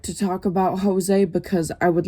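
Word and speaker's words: José: And at first I thought he was a girl because my phone pronounced it Josie instead of Jose.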